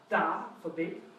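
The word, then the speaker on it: 大: And it's pronounced? So we have da, xiao.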